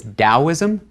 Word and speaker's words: Taoism: Chinese character hasn't changed the pronunciation hasn't changed it's just a different way of rendering that sound into English letters into the alphabet so it's Taoism and loads Taoism is